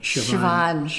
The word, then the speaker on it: Siobhan: Doesn't look like it, but that's how you No, say it's one of those names like our buddy Siobhan.